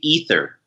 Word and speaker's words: Aether: eight the realm okay so in English it's supposed to be ether okay that's right go